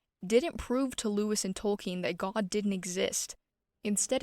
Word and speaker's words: Tolkien: Lewis and J.R.R. Tolkien, which I recently learned is the correct pronunciation, I've been calling him Tolkien my whole life, is one of the most significant in history.